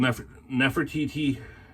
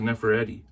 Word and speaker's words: Nefertiti: It was called Nefertiti. I kept on saying Neferetti, but it's Nefertiti Unmasked.